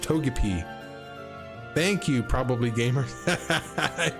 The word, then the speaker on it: Togepi: It's pronounced Togepi.